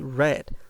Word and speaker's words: read: is read in past the spelling remains the same but the pronunciation is red like the color that's why I say